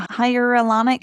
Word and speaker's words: hyaluronic: What did work for me was a non-hormonal suppository, which is a hyaluronic. How do you pronounce that?